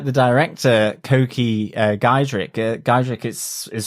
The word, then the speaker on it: Coky: It's a bit like the director, Coky Giedroyc. Giedroyc is spelled very differently than I would have thought. And I keep thinking of, let's do the hokey cokey every time you say his name.